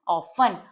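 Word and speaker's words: often: ये सभी सिंपल है ऑफन ऑफन में टी की साउंड साइलेंट है तो इसे हम अवॉइड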